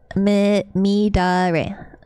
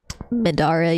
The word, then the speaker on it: Midare: I say it like a white girl. Mid-dire. Mid-dire. Mid-dire. Is that how you pronounce it? Oh, spare me, Sam Mans. I did not pronounce Midare right. Midare, your hoe.